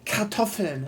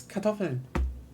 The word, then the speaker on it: Kartoffeln: We have other stuff there, like for example, like and even then it's more like English speakers over pronouncing stuff like Kartoffeln, and like it's Kartoffeln.